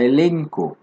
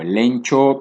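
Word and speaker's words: ἔλεγχος: La palabra griega es la palabra elenco, así se llama, elenco. Se escribe, bueno, con ese alfabeto griego, pero finalmente si se lee, se leería algo así como elenco, o elencho, pero elenco.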